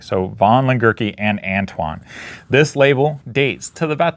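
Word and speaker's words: von Lengerke & Antoine: All right, and I mispronounced the name. So it's von Lengerke and Antoine, not Antoine von Lengerke. So von Lengerke and Antoine.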